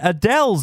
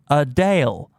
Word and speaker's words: Adele: years old or that Adele's name is pronounced Adele not Adele for this week's episode